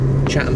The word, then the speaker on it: Chatham: Chatham, folks. Chatham. With a silent T.